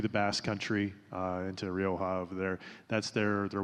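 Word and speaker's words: Rioja: Rioa.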